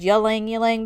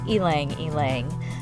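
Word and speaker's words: ylang-ylang: the ylang ylang which how do you say Elena Ling Google instructed me that's the proper way to pronounce it I had always said yelling yelling before but um out of curiosity I had Googled it just to be sure and according to google pronunciation it is ylang ylang so let me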